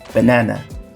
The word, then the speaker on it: banana: som como por exemplo banana banana percebe aqui que o segundo na ele tem um som diferente do ba B na na então que a gente tem esse som duas vezes banana uma outra palavra